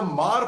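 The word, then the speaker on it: Hmar: like Jah where the mar population it's hm pronounced as Mar which they are affilated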